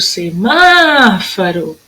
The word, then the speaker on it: semáforo: Olha o semáforo. É o má.